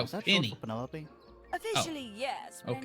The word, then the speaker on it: Penelope: for Penelope? Officially, yes, but okay. I never can be bothered with all 4 syllables of it. Penelope sounds a little ostentatious coming out of the mouth, don't you think?